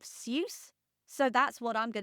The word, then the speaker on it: Seuss: tetrameter and I don't Dr seus or Dr so his own prudency of the pen name he chose based on his mother's maiden name he actually switched to the angiz pronunciation of seus so that's what I'm